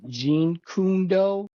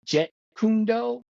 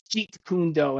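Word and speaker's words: Jeet Kune Do: um I had said that Bruce Lee started Jean kundo and it's actually pronounced Jet kundo and somebody of course in the comment said it's not Jean kundo it's je kundo and I'm like okay listen none of my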